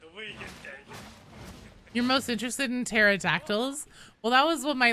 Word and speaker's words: pterodactyl: you couldn't hear it whenever pterodactyls would go to the bathroom because the p is silent I'm sorry take it